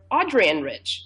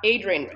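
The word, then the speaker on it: Adrienne: And I actually only recently learned from a scholar, this was last month, that the name is pronounced Adrian Rich, not Adrian Rich.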